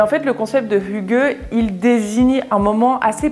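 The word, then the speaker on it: hygge: par le concept le plus connu qui s'appelle Hugues j'ai vraiment regardé la prononciation de tous les concepts par des locaux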